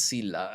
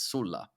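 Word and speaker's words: Sulla: so yeah of course in English and Latin in Italian it's Sila I don't know why we change it but in in English you kept the the actually the the correct version which is Sula uh so so the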